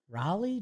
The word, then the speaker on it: Raleigh: Cal R's baseball page it says rhymes with with jolly yeah does it Raleigh Jolly Cal Raleigh yeah